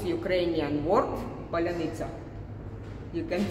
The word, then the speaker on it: паляниця: So now you will pronounce Ukrainian word Palianytsia.